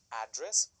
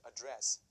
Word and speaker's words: address: to address here is the pronunciation of address do we put the stress on the first part or the second part is it a dress or is it a dress now for example I